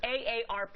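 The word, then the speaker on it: AARP: bottom of that is a ARP don't say it wrongly all right it's a ARP magazines Ken Solen and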